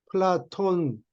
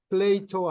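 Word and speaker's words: Plato: 라틴어 표현이고, 그리스 말로 하는 거는, 무슨 데나리온 이런 식으로 플라톤 하면 그건 그리스 발음이고, 플레이토 하면 라틴어 발음이고, 히포크라테스는 BC 460년 전 사람이네요.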